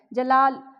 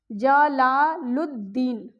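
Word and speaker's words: جلال الدین: अलिफ यहां पे साइलेंट है। जलाल नहीं यहां पे अलिफ और लाम दोनों साइलेंट है। यहां पर क्या करना है? जीम के साथ लाम आ गया। लाम के पेट में अलिफ आ गया। ज ला और इस लाम को दाल के साथ जोड़ना है क्योंकि अलिफ और लाम दोनों साइलेंट है। जला लुद्दीन।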